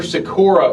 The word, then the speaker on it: Sykora: brock and we've got a special guest sakura with us now tom is am i pronouncing that last name right you are yeah